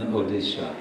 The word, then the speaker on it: Odisha: I believe it's in odisha history called Orissa that was the British pronunciation now they've changed it to the original and the name of the state is odisha but foreign